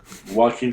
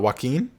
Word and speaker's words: Joaquin: do you say it walking phoenix walking phoenix yeah the jay's a little silent in that one you know it's not it's not joaquin no i it could